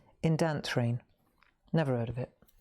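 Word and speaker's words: Indanthrene: Indantrine blue. All right, number 247. Indantrine blau. It's not Indian. It looks like Indian, but it's not. Indantrine.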